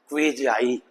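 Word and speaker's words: quasi: क्वेजाई judicial, अर्ध न्यायिक, तो ये क्वेजाई, तो यहां डब्ल्यू की क्वे, वाह की आवाज आ जाएगी और आगे ए, क्वेजाई।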